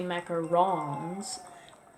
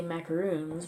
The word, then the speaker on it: macaron: like macarons Mac oh I meant to say Mac or wrongs because I used usually say macaroons but that's not how it's pronounced it's a great macaroon macaron place in st.